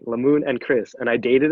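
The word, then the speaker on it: Lamun: never forget his name it's la moon it's called it's spelled l-a-m-u-n um and pretty much it had a selfie with him i signed it i'm like lemoon and chris and i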